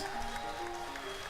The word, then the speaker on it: Enix: pronounce it Enix. It's Enix. It will always be Enix.